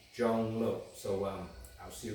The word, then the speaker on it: Zhong: my name is junglow spellus z-h-o-n-g pronounced j-o-n-g Jung so um I'll see